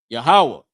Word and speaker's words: Yahawah: Yahawah. This is how how you say the Lord's name.